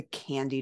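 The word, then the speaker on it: KNDy: but commonly called the candy neurons it's pronounced like the chocolate stuff but it's spelled with a k k n d y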